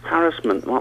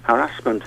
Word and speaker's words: harassment: I think I'm feeling harassment might be the older form, but I mean harassment is the correct form.